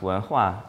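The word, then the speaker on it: 文化: Chinese characters, you're able to learn that they're pronounced wenhua, and that they mean culture or civilization.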